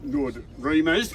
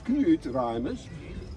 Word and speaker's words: Knut Reimers: As others pronounce Nord Reimers, but it is Knut Reimers.